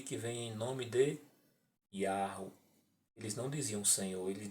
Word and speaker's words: Yahweh: Ele fala lá, ó, a pronúncia antiga era Yahweh.